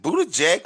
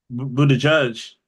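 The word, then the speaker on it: Buttigieg: Is it Buddha Jake or Buddha Jig Buddha Judge Buddha Damn Buddha Judge Buddha Judge?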